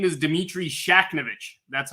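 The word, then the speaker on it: Shakhnevich: it's not easy though if you look at it and you get rid of the H in the- Middle it becomes a little easier I'm a lawyer in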